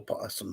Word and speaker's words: opossum: a cute little buggies the letter O is silent all possum sounds so odd I